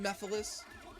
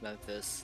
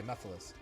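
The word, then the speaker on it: Mephiles: I thought it was Memphis, like Memphis, Tennessee.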